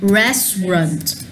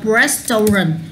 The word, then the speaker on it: restaurant: Nhà hàng của tôi, at my restaurant. Đừng đọc restaurant, bỏ âm ở giữa đi, chỉ đọc là restaurant.